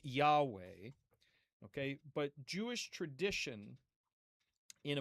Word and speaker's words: Yahweh: Now, um we we know for a variety of reasons that this would have been pronounced something like Yahweh.